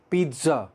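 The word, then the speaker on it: pizza: Second word, बहुत interesting word, पिज़्ज़ा। पिज़्ज़ा, ये पिज़्ज़ा नहीं है, पिज़्ज़ा, TZ का साउंड है इसमें।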